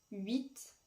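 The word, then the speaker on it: huit: et par exemple aussi dans 8 le H du début ne se prononce pas et dans le cas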